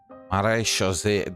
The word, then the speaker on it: Marechaussee: Marechaussee, that's how it's pronounced, huh? I was always called them Marechaussee. It's all about the accent.